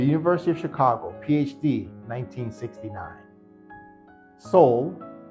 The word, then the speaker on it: Sowell: Sowell, pronounced S-O-U-L, Sowell, didn't publish his first book until he was 42 years old in 1972.